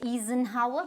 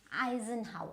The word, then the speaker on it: Eisenhower: Now what do you think you would pronounce it as? So you might say Eisenhower, but no, it is Eisenhower.